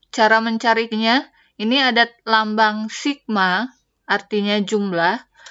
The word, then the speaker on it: sigma: mencarinya ini ada lambang Sigma artinya jumlah f * x f itu frekuensi dikali X itu nilainya dibagi dengan jumlah frekuensi supaya lebih jelas jadi lambang yang ini dibacanya stigma ya dibacanya Sigma Hai artinya jumlah please